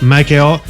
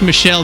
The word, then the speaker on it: Michel: the hot air balloon, Joseph Michael Montgolfier. Close. Not bad. Just make it sound like I said it right and go with it. Let's dub this in later. Joseph Michel Montgolfier.